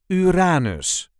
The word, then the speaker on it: Uranus: This is the way we say Uranus. Uranus. There is a light emphasis on the second syllable, Uranus.